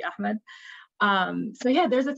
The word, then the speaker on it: Ahmed: then people like riz ahmed or ahmad i always i don't know how people in english pronounce some of the names i always say like in the arabic pronunciation which would be ahmed um so yeah there's